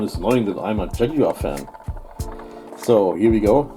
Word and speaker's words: Jaguar: I really have to pronounce it Jaguar. So, not Jaguar like the Americans do.